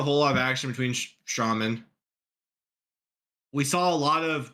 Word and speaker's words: Strowman: Remember, you say Strowman. Strowman. Oh, about time you say it right.